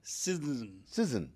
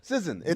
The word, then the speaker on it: SZN: Pronounce SZN. Sizzin. No, I'm into this. Sizzin. No vowels. No vowels. Sizzin.